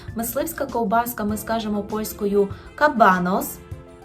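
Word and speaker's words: kabanos: ковбаска ми скажемо польською кабанос Зверніть увагу на наголос кабанос у множині частіше використовується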